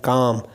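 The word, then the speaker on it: calm: balance लाना पड़ेगा एंड काम काम सीधे राम काम l ए साइलेंट 10 ग्राम मींस पुरसुकून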